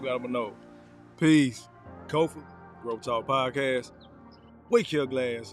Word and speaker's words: Kofa: I'm your host, Kofa, K-O-F-A, not coffee, not kufu, not Kofi, or any variation thereof. Kofa. It rhymes with sofa. Easy to say.